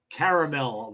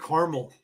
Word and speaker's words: caramel: We I always said it caramel. I don't know why that is. That's a That's an American thing. We always called it caramel or caramel. You got We didn't pronounce the other a. I don't know why that is. If you say it's like caramel Sunday, it's a caramel Sunday. And you just say the other a really quickly.